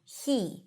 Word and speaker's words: he: He, he, he he. Well, when it's unstressed or in the middle of the sentence, which is usually the case, we drop the H and we just pronounce it as e.